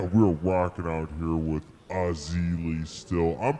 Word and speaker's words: Erzulie: saga and yeah we're walking out here with Ozzie Lee still I'm pronouncing that correctly yes yeah